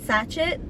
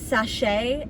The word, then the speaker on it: sachet: like a total dum-dum i pronounced it heart sachet and it's kind of like pronouncing crochet crochet apparently it's french so it's heart sachet and i'm like i